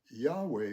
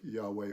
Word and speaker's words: Yahweh: He was of the tribe of Judah and the tribe of Judah was the tribe of Yahweh or Yahwh I think is it how it ought to be pronounced Yahwh.